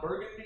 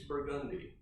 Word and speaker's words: Burgundy: And it's not Burgundy, it's Burgundy.